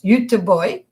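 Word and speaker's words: Göteborg: my family lived in gothenburg or as it's pronounced by the swedes youth boy in sweden at the time my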